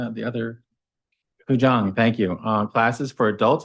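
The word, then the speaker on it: Qigong: 4, stay tuned, Tai Chi, and I don't know if I can say the word Quajang, how do you say the other? Kujang, thank you.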